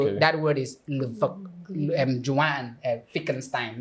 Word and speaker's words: Wittgenstein: you are spelling it, German, they pronounce W as V. So Okay. that word is Joanne Wittgenstein, not Wittgenstein, if you want to Wittgenstein, pronounce okay.